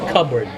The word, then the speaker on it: cupboard: in there so just cupboard cupboard ya covered yeah don't burn up yeah you don't pronounce the letter P covered covered okay very